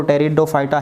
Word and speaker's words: टेरिडोफाइटा: ही बोला जाएगा, इसको टेरिडोफाइटा ही बोला जाएगा, और कोई दूसरा नाम इनके अंदर है नहीं। उसके अंदर पी साइलेंट है टेरिडोफाइटा के अंदर।